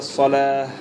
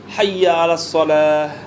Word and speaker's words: صلاة: Mais si tu te dépasses, si tu t'arrêtes, tu ne prononces pas le ta, tu prononces ça en ha. D'accord? Hayya ala salah.